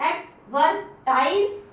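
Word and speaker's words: advertise: एडवर्टाइज, आई को आई क्यों बोला? क्योंकि देखो ई आ रहा है तो आई को आई का प्रोनाउंसिएशन देना है, आई।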